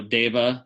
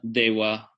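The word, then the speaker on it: देव: Sometimes there's more, so for example, V, the letter V can be pronounced va or wa. So deva, dewa, people say both.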